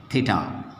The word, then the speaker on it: theta: In mathematics we have theta, okay, how to pronounce that?